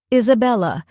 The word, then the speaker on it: Isabella: tip of the quill he points to each syllable as he recites them aloud. I say, lay, Isabella.